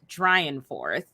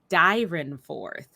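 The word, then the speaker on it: Dyrenforth: name was robert saint george dryanforth oh i'm saying it wrong robert saint george dyran fourth whew see on distillations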